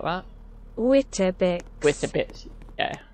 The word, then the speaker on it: Wittabix: Or Wittabix, if that's it, it's pronounced like that. Wittabix.